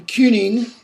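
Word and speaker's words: cyning: C can be a hard k, as in kuning, okay, or a ch, as in chiricha, okay, and it all depends again upon the environment.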